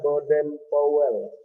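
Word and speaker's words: Baden-Powell: Tulisannya Baden Powell. Ya, bacanya Baden Powell.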